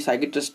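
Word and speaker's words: psychiatrist: Next word क्या है हमारा, साइकियाट्रिस्ट, देखो ये पी साइलेंट होता है, आप जानते ही हैं, है ना। तो ये साइकियाट्रिस्ट है, इसे कहते हैं मानसिक रोग विशेषज्ञ।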